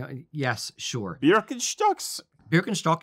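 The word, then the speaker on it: Birkenstock: yes sure beer STS berin stock is how you say it in Germany thank you very much you know what be great it's not birin stock like you freaking hippies Kilt with leader shock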